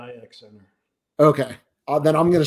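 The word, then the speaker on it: I-X Center: Is it pronounced the Cleveland IX Center or the 9 Center? We've always called it the IX Center.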